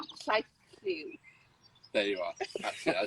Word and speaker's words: Llaethliw: It's Llaethliw.